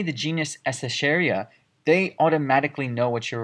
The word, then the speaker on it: Escherichia: You can say that I'm studying the genus Escherichia, and that's what I'm looking at.